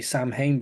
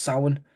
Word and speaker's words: Samhain: Well, some people say Samhain, but it's pronounced Samhain.